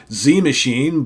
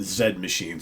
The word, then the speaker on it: Z Machine: You would say Z Machine, but as their sax player Rob has told me, they do pronounce it Z Machine.